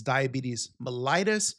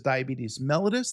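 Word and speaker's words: diabetes mellitus: Now the official name for diabetes is diabetes melatus. You will hear some people pronounce that as diabetes malitis. I want you to pronounce that as diabetes melllois.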